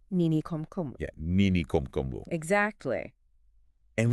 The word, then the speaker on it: Nini Khomkhomu: Nini Khomkhomu. Make sure you pronounce it right when you're telling all your friends about this one. Right. Nini Khomkhomu. Nini Khomkhomu.